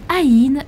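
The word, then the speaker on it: אין: En hébreu, le néant, le vide se dit aï et se prononce comme le mot œil qui symbolise la vision divine, la connaissance et qui est la 16e lettre de l'alphabet hébreu.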